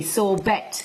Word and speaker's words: sorbet: who was so bad why is this spelt e t sorbet because it's french i know everything you